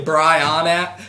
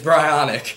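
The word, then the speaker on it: Brionac: in the face like if you say brianna or bryonak it's brionic if you say cat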